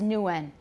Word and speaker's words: Nguyen: In Vietnamese, they have it, but when it comes into English, it comes out as nguyen, comes out as n, because we just don't say ng at the beginning of a syllable.